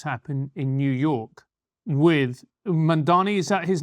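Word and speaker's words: Mamdani: It's very hard to pronounce because in English there's no word that has a an M followed by a D. It's hard for your mouth to say anyway, but it's Ma'am Donnie.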